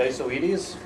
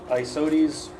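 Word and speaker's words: Isoetes: these Lanka fights the I so Edie's most of the professional fern biologists pronounced at ISO edie's some call it I Saudis you're fine with either these hi Saudis or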